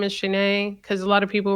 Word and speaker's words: Shanee: was just around like hey my name is shanae because a lot of people were pronouncing it wrong and then my second video